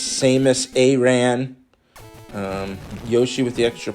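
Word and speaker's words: Samus Aran: power samus a ran i always say it wrong according to mike the traffic so i know now that it's samus a ran um yoshi with the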